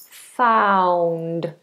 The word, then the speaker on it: found: Found. Found. Ow. Imagine there's a W in the middle.